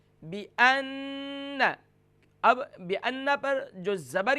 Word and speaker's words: بِأَنَّ: یا لم، علم یعلم، پھر اس کے بعد بِأَنَّ کی ہجے اس طریقے سے ہوگی، با زیر بی، حمزہ نون زبر ان، نون زبر نا، بِأَنَّ۔ اب بِأَنَّ پر جو